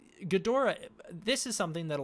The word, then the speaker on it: Ghidorah: But Toho officially markets the character as King Ghidorah. That's how they've been marketing since the 90s, and that is the preferred English pronunciation of the name.